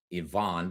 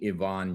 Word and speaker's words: Ivan: My middle name is pronounced Yvonne, but it's spelled just like Ivan. Dr. Yvonne.